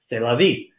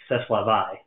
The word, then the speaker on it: c'est la vie: is french i'm sorry if the screen reader doesn't know this is french it may try to pronounce this as ceslava which isn't going to